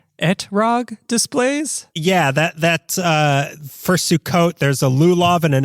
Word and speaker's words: Sukkot: Sukkot. Wrong! I told you the wrong thing. You idiot! Sukkot.